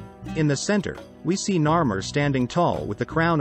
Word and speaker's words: Narmer: At the top are the symbols for catfish, phonetically nar, and chisel, phonetically mer. In the center, we see Narmer standing tall with the